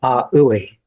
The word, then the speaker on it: AUI: And so then he invented a language called aoui and a means space. U means mind e means sound. So aui means space mind sound. And it's spelled A, lowercase A, capital U, capital I.